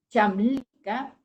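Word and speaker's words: Çamlıca: Entonces, les decía, una de las colinas, Chamlinka, que se escribe Kamlinka, en esa colina es una colina donde hay muchas flores, mucho verde, preciosa, unas vistas espectaculares.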